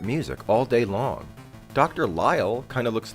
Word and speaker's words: Lyall: Lyall. Lyel spelled like isle with an L at the front.